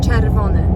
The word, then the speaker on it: czerwony: Red jest czerwony. Czer czer wo n n czerwony czerwony green zielony zielon a yellow jest żółty żółty black czarny czarny czarny czarny Yeah.